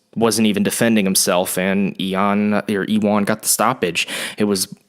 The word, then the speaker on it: Ion: Before that, at light heavyweight, I think it's Ewan. I've heard it's pronounced Ewan, even though it's spelled Eon, like an ion. But I've heard it's pronounced Ewan Kutalaba defeated, I'm not even going to try